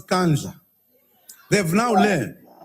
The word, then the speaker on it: Nkandla: Unless if like you're not knowing Zulu. Unless it's like that. But man, else you can pronounce Nkandla. Unless you're from Botswana or you're from Lesotho. It depends about the accent again. Accent play a big role.